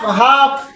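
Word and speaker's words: half: তার আগে লেটার যদি এল হয় তখন এল সাইলেন্ট হয়ে যায় কাফ হাফ কাম ফর্ম এইরকম ওয়ার্ড অসংখ্য লেটার বইয়ের মধ্যে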